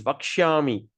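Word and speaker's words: वक्ष्यामि: When there's a dot underneath, we're going to pronounce it Sh. Okay, like this. Vakshami. S at the dot at the bottom, we roll the tongue, put in the filling. Sh. So Vakshami. All right.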